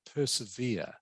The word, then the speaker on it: persevere: diversity vocabulary hard to this word here is pronounced persevere okay persevere persevere do you know what it